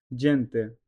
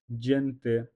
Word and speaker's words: gente: J, L A la, T O to, gelato, gente, G plus E J, N T E, gente. এখানে জি এর উচ্চারণ বর্গীকার্য হবে স্তনদুরো।